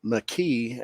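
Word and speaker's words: Makee: Well, it was titled Emergence, and in the opening scene, it's a flashback where we see a young McKee, and that's how they pronounce her name.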